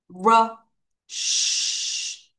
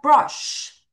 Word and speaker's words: brush: 끊어 읽으면 brush. 따라하세요. brush. 다시 brush. 한 번 더. brush. 여러분, 빨강 이 sh 발음을 똑바로 해야 된다. 이를 쭉 빼라.